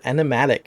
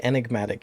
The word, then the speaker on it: enigmatic: like was off so he says enematic he didn't say enigmatic he didn't say the g part and earlier in this